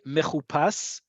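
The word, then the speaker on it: מחופש: It's technically incorrect because the emphasis is on the last syllable, and a vav with the u vowel in the middle usually means that's the stress there.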